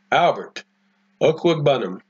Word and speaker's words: Albert Okwuegbunam: Albert Okwuegbunam.